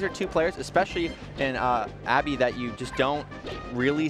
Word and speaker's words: Abbe: It's Abbe, right? Don't confuse. Abbe.